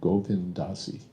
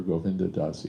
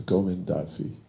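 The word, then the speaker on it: Govinda Dasi: as she points out Praad always point pronounced her name Goindasi it was never Goinda Dasi it was always Goindasi four syllables so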